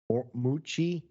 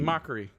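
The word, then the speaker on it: Mochrie: they would make fun of drew i can't pronounce his last name but it's colin moochie m o c h r e r i e m o c h r i e mockery mockery yeah thank you colin macri yes yeah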